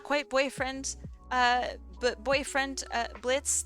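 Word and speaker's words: Blitzø: boyfriend uh boyfriend uh Blitz the O is silent um then we had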